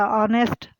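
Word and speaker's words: honest: इसी तरह ऑनेस्ट, H जो है वो हम लिखते हैं, पढ़ते इसमें नहीं है।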